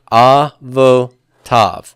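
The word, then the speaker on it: אֲבוֹתָיו: Avotav. Where's my accent here going to be? It's going to be on the final syllable.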